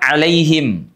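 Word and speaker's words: عليهم: Ada huruf lin di sini, Teman-teman. Lai dalam bahasa Indonesia disebut dengan vokal diftong. Lai bunyinya ya mati itu identik dengan bunyi i. Lai tidak lai tidak alaihim tidak ghairi ya kan tapi ghairi giiri alaihim.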